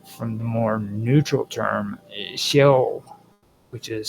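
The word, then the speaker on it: Sheol: The term is different from the more neutral term shell which is spelled sh h e o l the abode of the dead.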